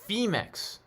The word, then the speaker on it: Phemex: i love you girl it's pronounced femex brad and um wants